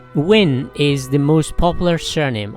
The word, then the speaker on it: Nguyen: bait or a hug depending on how it's pronounced win is the most popular surname almost 40 of